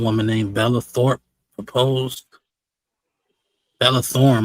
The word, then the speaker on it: Bella Thorne: I still got the Bella Thorpe proposal. The what? Some woman named Bella Thorpe proposed. Bella Thorne, my fault. I'm saying her name wrong.